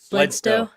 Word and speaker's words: Bledsoe: It's just Bledsoe. What am I saying? I'm saying Bledsoe. Bledsoe.